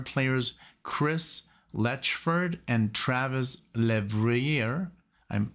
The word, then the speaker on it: Levrier: chris lechferd and travis levreyer i'm i hope i'm pronouncing this correctly le vrier like my last name is also le if you didn't know